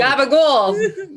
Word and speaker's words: gabagool: But I'm thinking Do that all Gabagool. The gabagool. Yeah. Guma. Does anybody know where Gabagool comes from? Like The the south of Italy. Dark well. It's a pronunciation of capicola.